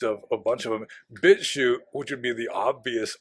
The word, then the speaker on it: BitChute: You'd have to find them on Brian's BitChute feed, which you're not supposed to say. It rhymes with Withoot.